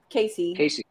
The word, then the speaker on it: Case Easy: brand of cases called case easy pronounced casey yeah a shurion a